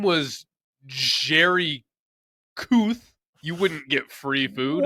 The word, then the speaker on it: Kuth: It's Kuth. K-U. So it looks like Kuth, and he always has to say, no, it's pronounced Kuth.